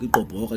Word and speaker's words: Igqoboka: Igqoboka is pronounced Igqoboka.